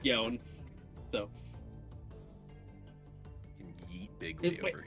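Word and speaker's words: Yänn: Yawn. No, Yawn. it's pronounced Yon.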